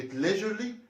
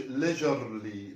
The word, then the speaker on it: leisurely: بس leisurely نركز ان كلمة leisurely مش بننطق الار، ما بنقولش leisurely، لا leisurely.